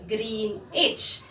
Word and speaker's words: Greenwich: Here children, W is silent. It is Greenwich.